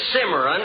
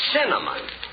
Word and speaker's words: cinnamon: it can you look it isn't simmering it's cinnamon now let me ask you